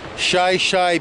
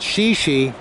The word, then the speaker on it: Shi Shi: to shy-shy Beach trailhead shy-shy Beach is spelled shì shì so one might think that it was pronounced shi shi but if he pronounced it that way the locals will all know that you're not from around here it's shy shy but this is an